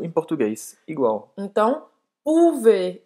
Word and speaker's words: pouvez: Então, pouvez. E aí, esse Z aqui não tem um som, tá? Esse EZ tem o som de E. Então, pouvez.